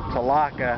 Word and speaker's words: Tholocco: out at uh Lake tilaco uh locals down here call it talaka I don't understand why because it's spelled t-h-o-l-o-c-c-o it doesn't have an a at the end but I don't want